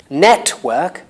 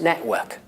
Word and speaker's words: network: again witness witness at lusts becomes Atlas atlas network becomes network network quite good becomes quite good quite good so